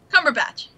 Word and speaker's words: Cumberbatch: Benedict cumber cumber whatever how how do you pronounce his name cumber batch Cumberbatch um AKA smog AKA con Sherlock yeah